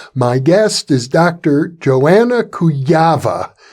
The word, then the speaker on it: Kujawa: Joanna Kujawa. She's Polish, and that's the Polish pronunciation, but I've heard it mispronounced or pronounced otherwise by English speakers such as Kujawa or Kujawa.